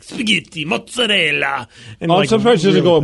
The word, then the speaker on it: spaghetti: And then the minute she gets to spaghetti, she says spaghetti. It, like, spaghetti. And Ellen made fun of her.